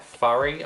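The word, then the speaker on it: Fari: I went in with the MUC Cosmetics lashes in the style F-A-R-I, Furry, I believe they're pronounced. That's them.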